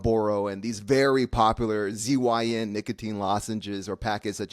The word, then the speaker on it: Zyn: Cox, you're so healthy that you don't know it's pronounced Zen.